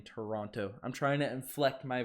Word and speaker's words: Toronto: roasting me for saying toronto i'm trying to inflect my voice and when i do that i pronounce the tease if i'm talking every day i'm saying toronto so don't stress it